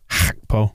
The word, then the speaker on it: Gakpo: I'm just going to say the important stuff is that he's known as Cody Gakpo. Gakpo. Gakpo. That's how you pronounce it properly in Dutch, I think.